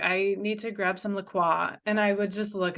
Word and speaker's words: LaCroix: when I went so hard on you for pronouncing Lacroix LaCroix it's LaCroix it but it you know